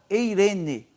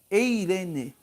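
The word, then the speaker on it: εἰρήνη: Eh, o, a pronúncia no grego é eirene, eirene, né?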